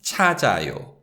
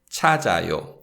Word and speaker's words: 찾아요: But when we read this, we read it as 찾아요, 찾아요. So the suffix 아요 begins with the 이응 consonant. So therefore, the sound of the 지읒 받침 links with the following syllable.